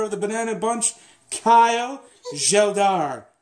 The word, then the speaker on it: Geldart: Carr again, and this time we are joined with another member of the Banana Bunch, Kyle Geldart. It's still spelled G-E-L-D-A-R-T. So Geldart? A hard G. Geldart.